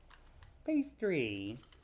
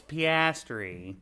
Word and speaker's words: Piastri: Pastry. Is that how you say it? It's Piastri.